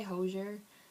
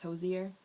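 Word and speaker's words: Hozier: I say hosier, but I guess the correct pronunciation is hosier.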